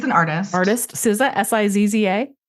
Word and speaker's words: SZA: SZA, SIZZA? SZA. Oh, I know who that is. Yeah. I didn't know that's how you pronounce that.